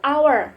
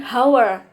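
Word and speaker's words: hour: kan hower pakai depannya Kenapa masukkan karena bacanya itu our bukan hower nah itu kenapa masuk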